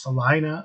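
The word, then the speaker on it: Celina: c e l i n a it is pronounced Salina I'm always corrected by my sisterin-law who lives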